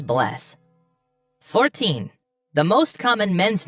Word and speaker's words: Bless: Goodbye is bless.